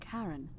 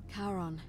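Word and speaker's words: Charon: it's just as you described it only your pronunciation is a little off the name you heard wasn't karen it was c c-h-a-r-o-n as in as in the boat man the ferryman of the dead yeah karon who in exchange for the right coin helps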